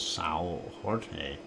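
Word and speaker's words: São Jorge: of Saint George or if you want to pronounce it in Portuguese as Sao Jorge and there's a little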